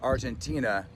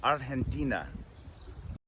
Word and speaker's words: Argentina: I'll have my picks later on from Argentina. I like how he's pronouncing Argentina there. He's There's a really soft authentic. G. Yes, it's a soft G.